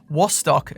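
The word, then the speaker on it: Wostok: then East Germany, where the letter W is pronounced a bit like a V.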